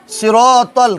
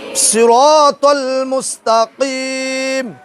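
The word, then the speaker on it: صراط المستقيم: টা পড় হবে না সিরাতল কি হবে সিরাতল সিরা কি বলতে হবে সিরা সিরাতল তল এটা তাল না তল মুসল মুস্তাকিম বলো সিরাতাল মুস্তাকিম সিরাতাল মুস্তাকিম সিরাতাল মুস্তাকিম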